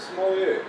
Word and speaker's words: sommelier: Steve, so is it pronounced, what is it pronounced? Sommelier.